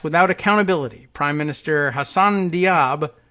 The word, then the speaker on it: Diab: accountability prime minister hassan diab says now i'm pronouncing it correctly d-i-a-b i haven't heard the